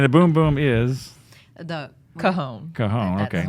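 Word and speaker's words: cajón: The Cajon. Cajon, That's okay. right. That's how you pronounce it, cajon, right?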